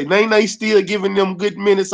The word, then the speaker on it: Nene: What I'm saying is it's pronounced Nene, not Nay.